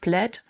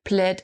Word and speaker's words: Plaid: I think it's pronounced Plaid. I used to say Plaid when I was younger.